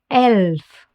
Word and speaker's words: Elf: Listen closely how it's pronounced in German. Elf.